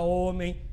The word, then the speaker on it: homem: palavra hora a palavra homem essas palavras começam com h o h é uma letra é escrito mas não é pronunciado por que se inscrevem